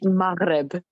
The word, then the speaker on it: Maghreb: It's pronounced Maghreb.